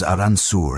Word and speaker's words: Arkansas: The name comes from a French interpretation of a Native American word and the proper pronunciation reflects that French heritage. So they made it official. The name is Aranssour and that is how it shall be spoken.